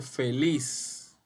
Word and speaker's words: feliz: que tener cuidado porque si usted se refiera el nombre usted dice félix y estaría sombreando como sílaba tónica la fe pero aquí dice feliz de alegre lis es la sílaba tónica lis y por ende eso es aguda así que eso es